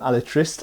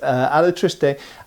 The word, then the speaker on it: Alatriste: those of you who corrected my pronuncation from alist alatriste and um in that